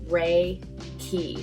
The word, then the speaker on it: Reiki: pronounced just like that re key the first word re means spiritual wisdom and the last word ki means life force ki the last part of reiki is just like chi in chinese all of these ancient